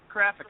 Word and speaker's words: Krafik: You were close, though. It's crap. It's Krafik. I said it wrong last time, too.